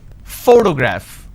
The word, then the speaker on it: photograph: pronounce this particular word photograph the correct pronunciation is photograph which means I am stressing on this particular syllable which is the first syllable please give me the